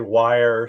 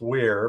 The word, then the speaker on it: Weir: okay I know um people sometimes butcher my last name some people say wire some people it's Weir but uh um and I